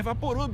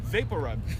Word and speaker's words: VapoRub: Olha, gente, então não é Vaporub, é Vapor Rub.